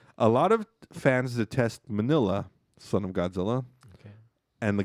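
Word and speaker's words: Minilla: date all right a lot of fans detest manila son of godzilla and the guy says actually it's pronounced menya but i always liked him shut up um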